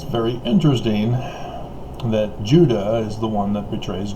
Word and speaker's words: Judah: And in case you didn't know, Judah, I've done the videos, Judah is phonetically the same as Utah.